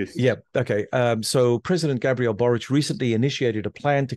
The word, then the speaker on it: Gabriel Boric: Karen Chilean president and forgive my pronunciation uh is it Gabrielle boric because it sounds like a Slavic yeah okay yeah okay um so president Gabriel boric recently initiated a plan